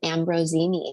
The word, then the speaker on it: Ambrosini: And I've got my friend Ambrosini here. Am I saying it right? Is it the S like a Z kind of?